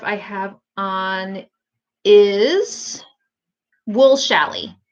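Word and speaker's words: challis: have on is wool shally and shally is spelled CH a ll is so it's very gravy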